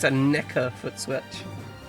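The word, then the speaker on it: Nekker: not a Yamaha foot switch it's it's a NECA foot switch n e k k e r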